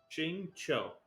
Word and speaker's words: Xingqiu: Okay. Xingqiu. That's how you say his name.